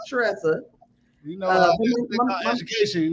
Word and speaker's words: Tressa: Well, for one, you're gonna say my name right. Since I'm a good friend. Tressa. I was like, ain't that an R right?